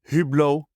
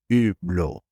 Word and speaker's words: Hublot: so for the record it's not hublo but it's blo cuz there's there are